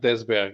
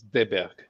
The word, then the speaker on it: Desberg: And the other one is not Desberg, it's Deberg. It's Deberg? Stefan Deberg. Deberg. Okay, you don't pronounce the S.